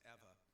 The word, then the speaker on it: Ewa: It's Ewa, but it's pronounced Eva.